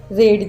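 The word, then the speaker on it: read: रेड this yes ही रेड this रीड second form रेड आहे पण spelling एकच आहे नो आय डीड नॉट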